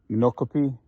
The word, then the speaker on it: Micanopy: And again, I'm in, I think it's pronounced Micanopy, Florida, between Ocala and Gainesville, Florida.